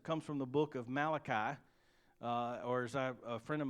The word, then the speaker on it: Malachi: my mentor in seminary he would call it the book of mulashi the Italian prophet you know I don't think it's pronounced that way but anyway Malachi chapter 2 verse 14